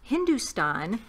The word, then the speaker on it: Hindostan: little promo thing about Thugs of Hindustan, and it has to do with the ships they built for this. Why is there an O in Hindustan? If it's pronounced Hindustan, and I understand.